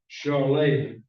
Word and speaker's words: Charolais: He started a landscaping company in '82, and he owned a purebred Charolais herd. I had to get somebody to pronounce that for me because it's not spelled that way.